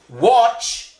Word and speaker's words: watch: Watch, menonton. Menonton, watch. Ini o. Ini bacanya ce. Bacanya apa? Ce.